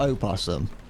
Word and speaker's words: opossum: Is it pronounced possum or opossum? Or are they two different types of thing? There's two different species. Possums in Australia and around there, and I assume opossums are North American? Yeah. Opossum. It's pronounced like that.